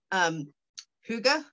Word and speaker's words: Hygge: based, and they at convention they called it Huga.